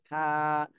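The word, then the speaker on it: ثاء: তাহলে এটা আমরা শিখলাম হলো জিহ্বার আগা সামনের উপরে দুই দাঁতের আগার সাথে লাগায়ে হালকা ভাবে, হালকা ভাবে নরম করে উচ্চারণ করতে হবে। থা, থা।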